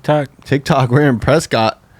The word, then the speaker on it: Prescott: Tik Tok we're in Prescott Prescot that's what they pronounce it okay so presc Arizona